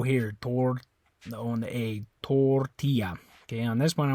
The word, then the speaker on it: tortilla: tortilla tortilla okay and notice how this one in English the way you pronounce is a little bit different right in Spanish it's tortilla Spanish you say tortilla tortilla so tortilla tortilla this is a little teeny bit different there and I think